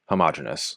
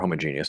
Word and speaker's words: homogeneous: the field is still absurdly homogeneous or homogenius depending on which pronunciation you like better he's done more than